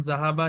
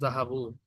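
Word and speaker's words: ذهبوا: Note that there is a alif at the end of the word which is not pronounced. আলিফ যে আছে না একটা, এই যে জাহাবু, এটা প্রোনাউন্স হয় না। এই আলিফ কি হয় না? প্রোনাউন্স হয় না। লাস্টের যে আলিফ থাকে ওয়ার্ডের মধ্যে, সেই আলিফের, সেই আলিফটা উচ্চারণ হয় না।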